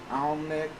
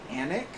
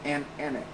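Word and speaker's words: Alnwick: Derpy says, Alnick, it's pronounced Anik or Andic. Wait. Oh, Anik. Okay. Yeah, that is confusing. Anik.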